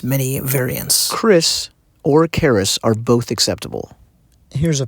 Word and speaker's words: kris: They use caris and then only mentioned on the side pronounced and sometimes spelled as Chris.